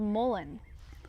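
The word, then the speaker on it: mullein: They're saying it's called mullen.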